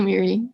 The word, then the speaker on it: Miri: No, it's just, you can just say Miri.